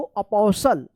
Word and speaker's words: apostle: क्या पढ़ेंगे इसको? अपोसल। अपोसल, टी साइलेंट रहेगा।